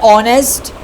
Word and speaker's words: honest: So as you can see it is notice that these words over honest began with the voel sound and the initial consonant h is not pronounced.